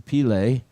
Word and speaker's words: Pile: That's the proper pronunciation, Pile.